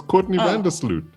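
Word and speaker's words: Courtney Vandersloot: It's Courtney Van Der Sloot.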